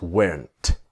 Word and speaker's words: weren't: Were not is weren't but of course the t is silent.